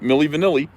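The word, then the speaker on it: Milli Vanilli: say milly vanilli see you got that right millie vanilli it's not millie vanelli is it no so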